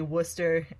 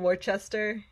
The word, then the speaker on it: Worcester: in Denver and then I'm gonna say it correctly Worcester Massachusetts Worcester Mass yeah I once said it I said once I said Worchester in Massachusetts and I I've never